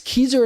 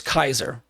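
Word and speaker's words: Keiser: it's pretty amazing and I always butcher the name it's kezer it's Kaiser ke i s e r I'm pretty sure it's keer because I'm pretty sure a Kaiser is like a German general or chief could be wrong but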